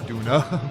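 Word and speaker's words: Döner: But everyone else is donor. I thought he said nooner. Day job if you can hold a gun. In Germany, it is Duna, but it's spelled donor.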